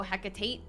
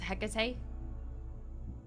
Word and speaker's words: Hecate: you're supposed to help do you just not pronounce the T it's just he no Hecate just HEC do you know anything